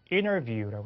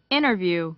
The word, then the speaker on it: interview: 자, 그 다음 발음도 interview, 그렇죠. interview, interview라고 하는데 영국식 발음은 T를 그대로 발음한다 예상이 됩니다.